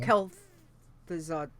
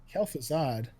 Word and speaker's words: Kel'Thuzad: done that there you go that's how you pronounce it excellent alright Oh kel'thuzad kel'thuzad in Borean tundra that's right that's right yeah